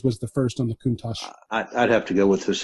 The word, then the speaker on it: Countach: While we're at it, the Lamborghini Countach, is it pronounced Countach, by the way? Countach.